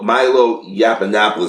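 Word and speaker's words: Yiannopoulos: black community on a bus but when myo Milo Yap Annapolis that's how you pronounce his name came in he came in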